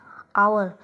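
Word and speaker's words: hour: ठीक है, सबसे पहले एन आवर, एच is silent.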